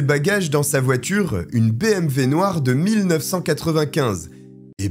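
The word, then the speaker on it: BMW: dans sa voiture une BMV noire de 1995 et BMV est la bonne prononciation parce que je vous vois venir en commentaire et le dit embrasse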